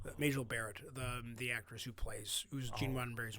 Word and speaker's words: Majel Barrett: And I was like Major Barrett, or I always pronounce her name wrong. Majel Barrett, the actress who's Gene Roddenberry's wife.